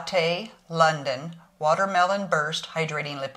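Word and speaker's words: Ciaté: from last month okay I finally figured out how to pronex pronex how to pronounce CI a te it's Cate London watermelon burst hydrating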